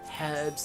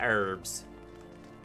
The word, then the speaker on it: herbs: i think normally um people from the uk put the h stronger herbs herbs and spices here in at least southern america we just say herbs my age is silent hulking hunter we